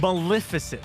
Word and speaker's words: Maleficent: what how do you say it again Maleficent Maleficent I can't say it I can't say it